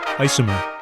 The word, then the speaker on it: isomer: Isomer. I-S-O-M-E-R. Isomer. The first thing I think of when I hear the word isomer is ice cream, because it sounds like the word ice cream, not because it actually